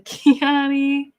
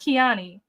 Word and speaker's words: Kiani: Hello to Kiani. Oh, so it is pronounced Kian, not Kiani.